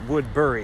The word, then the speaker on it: Woodbury: For one, you're gonna hear a lot of people call it Woodbury. I don't know, it's not spelled like blueberry or raspberry, it's Woodbury, B-U-R-Y.